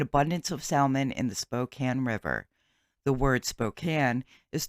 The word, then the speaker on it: Spokane: in Spokane Washington before anyone tells me I'm pronouncing it wrong and it is Spokane it is not it is Spokane so let's